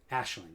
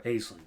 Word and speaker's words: Aisling: the whole Betrayal mechanic, Ashling, or Aisling, pronounce it how you like.